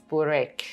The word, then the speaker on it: burek: try some very popular Turkish food, which is burek, Yes. if my pronunciation No, is it's correct.